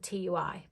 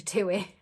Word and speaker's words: TUI: how people pronounce it i've always said tui but i think it's actually two-way anyway um because of